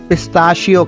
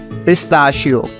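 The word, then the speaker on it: pistachio: रहता है तो बच्चा पिस्ते को इंग्लिश में पिस्ता शियो कहते हैं पिस्ता शियो अब आओ पिस्ता शयो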